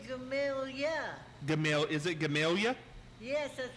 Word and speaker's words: Gamaliel: Gamaliel. Isn't that a hard word to say? That's President Warren Harding's name. Now, can you say Gamaliel, Martha? I say Gamalia.